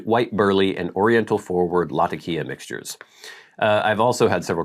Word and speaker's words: Latakia: I like cubed white burley and oriental forward Latakia mixtures.